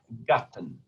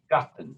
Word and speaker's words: Gatten: Like for instance, the word that I wrote down there, Gatten, Gatten. We can hear that it's clearly on the first syllable.